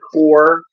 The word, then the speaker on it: Corps: character named Haw in the corpse the core you want to pronounce that actually correctly but none of us kids said the core we all said the corpse I still say the corpse I don't care that's correct pick the core with an exclamation point